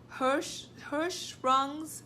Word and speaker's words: Hirschsprung's: one that's number one second one Hirschsprung's disease her shrung's disease let me spell it for you h i r s c